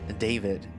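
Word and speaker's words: Dawid: I'm just gonna keep pronouncing it David until somebody tells me no, it's David. The V, I mean the W just makes the V sound.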